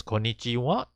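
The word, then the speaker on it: こんにちは: so in this case actually pronounced as konichiwa and konbanwa but because for there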